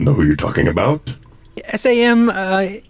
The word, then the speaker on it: Samhain: SAMHAIN. Mm-hmm. Sam Heyman. Samhain, yes.